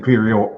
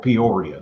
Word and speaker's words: Peoria: And um is this Okay, I'm gonna let you pronounce that one, Ty. I'm I'm gonna let you figure that one out. She's in Perio. Peoria though.